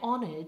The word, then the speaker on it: honored: and then try I'm honored to be with you today check that you're not pronouncing the letter h in honored it's silent just like in the word honest try both of those words